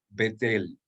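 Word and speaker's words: בית אל: traducción en características Castellanos Cómo se pronunciaría la expresión casa de Dios vettel y en hebreo fijarán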